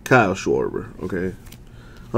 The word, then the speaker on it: Schwarber: that's not how you say his name Kyle schwarber okay I like to have fun sometimes Dustin